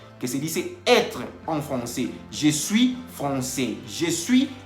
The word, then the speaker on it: français: La AI en francés se pronuncia E. Entonces, por eso dice Tomás que je suis professeur de français. Y no está diciendo, en ningún momento está diciendo que je suis professeur de francais. Así no se dice.